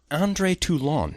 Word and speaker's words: André Toulon: Puppet Master is the quote-unquote story, and I'm using that term very loosely, of André Toulon, note the pronunciation, a master of puppets who has found an ancient Egyptian method of imbuing puppets with life.